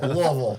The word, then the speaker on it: Louisville: I was gonna, Louisville.